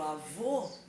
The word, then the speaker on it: avô: Se eu digo avô, eu coloco um acento circunflexo. Se eu digo avó, eu coloco um acento agudo, som aberto e som fechado.